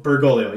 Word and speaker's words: Bergoglio: And how do you say his last name? Bergoglio? Bergoglio, yep, that's it.